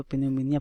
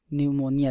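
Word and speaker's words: pneumonia: चीज़ बता दूं कि बहुत से लोग इसको पिनोमोनिया पढ़ रहे होंगे, बस ये इसका सिंपल सा मतलब न्यूमोनिया से है, ठीक है, जो क्योंकि यहाँ पर पी जो है वो साइलेंट होता है, ठीक है।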